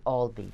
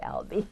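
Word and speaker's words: Albee: Al's a delicate balance he pronounces it Alby just so you know he gets very pissed off when people say Alby oh sorry about that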